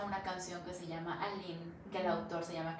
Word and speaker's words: Aline: confirmar hoy, le pongo, no es Alina, es con E al final, pero se pronuncia sin la E. Mi nombre se pronuncia Aline. Y me dice, como en Francia, le digo, sí, literalmente.